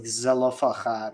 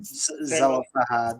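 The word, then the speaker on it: Zelophehad: So, Yeah, in English it's typically pronounced like Zelofahad or Zelofahad. Zelofahad, okay.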